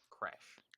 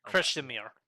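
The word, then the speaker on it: Krešimir: It's just Kresh. Kresh. Kreshimir. Okay. Kreshimir Jujic, but Uh, Kresh because it's a lot easier for English people.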